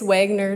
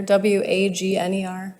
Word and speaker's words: Wagner: oh you're welcome it's wagner w-a-g-n-e-r oh you pronounce it wagner wagner okay all right thank you it's wagner